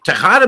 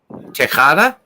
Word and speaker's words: Tejada: Tejada? Yeah. Yeah, so a J is a ch. So now you know. Kind of like you're going to spit on something.